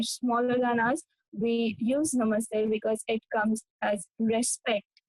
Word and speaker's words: Namaste: and the other is Namaste the t is pronounced as the eight in the e in the eight so the same sound goes for it namaste language has its